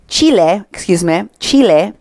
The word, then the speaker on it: Chile: This Roots campaign talks about how they were live from Spain and Chile. Chile. That's how it's said.